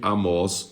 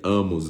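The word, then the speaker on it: Amoz: né ou de amos eu acho que esse pai de Isaías aqui a pronúncia aqui em portug transliterada seria amos né porque não tem acento como amó e é com z no final a Isaías filho de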